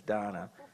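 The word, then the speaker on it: Dana: It's spelled D-A-N-A. I think her parents kind of misspelled it, but the pronunciation is Donna Carney.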